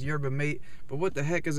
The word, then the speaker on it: yerba mate: And I'm continuously riding the word wave, and I just got a burst of energy because I had some yerba mate, which some people mispronounce as yerba mate.